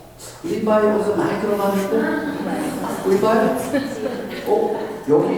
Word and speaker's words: Levi: L-E-V-I만 하면 어떻게 발음이 되죠? L-E-V-I 리바이 어디서 많이 들어봤는데?